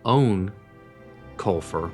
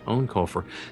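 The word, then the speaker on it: Eoin Colfer: books yeah the um author name pronounced actually own kulur but it looks like Ian hard to say own culur has just released a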